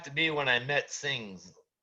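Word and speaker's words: Singz: be when i met sings singing singing yeah that's the closest pronunciation we can't really s i n z s-i-n-g-z i'm sorry things like things yeah like things are so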